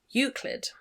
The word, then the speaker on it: Euclid: Robinette, and I'm going to try and pronounce this Euclid? We're going to look it up. Euclid.